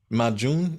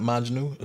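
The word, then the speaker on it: Majnun: Majun, not Majnu.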